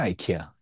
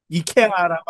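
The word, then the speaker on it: IKEA: 해갖고 아이키아잖아요. 아이키아. 어 아이키아 이케아라고 아니고 아 아이 이케아가 아니라 아이키아 진짜요?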